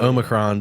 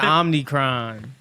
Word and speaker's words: omicron: get out of here omicron dude it's back that's how you that's how you say it oh my god you called it oh marion no i was calling it i was calling it omnicron yeah it sounds like it should be omnichrome yeah but it's omicron